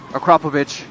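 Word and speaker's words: Akrapovič: pronounce it wrong all the time it cannot pronounce it the correct ways akrapovic i just call it acrobatic acro you know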